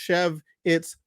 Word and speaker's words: Schewitz: But if you are wondering, it's pronounced SHEV-its WI-cerd. He's from Alexandria, Virginia.